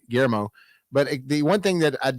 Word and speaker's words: Guillermo: much liked everything that Gilmore's done except, and I said his name wrong, Guillermo.